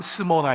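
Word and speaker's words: Smyrna: 그래서 스모나, 발음은 스모나 이렇게 돼요.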